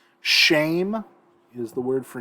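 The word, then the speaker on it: שֵׁם: Let's go through these vocabulary real quick just so you get a pronunciation. Shame is the word for name or reputation.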